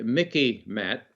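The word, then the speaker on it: MICIMATT: the spectrum it's the mickey matt uh rhymes with mickey mouse so you can remember it the military industrial congressional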